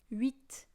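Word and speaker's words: oui: re re um read there's no R basically it's written like this wheat yeah kind of like wheat but if you say we it sounds like the Belgium way and I hate Belgium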